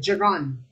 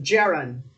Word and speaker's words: gerund: which of the following sentences contains a gerund okay a i don't know why some people pronounce it jiran i prefer to pronounce it gerund which of the following